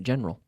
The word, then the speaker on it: general: good the general trend general two-syllable general general general trend is favorable yes pronunciation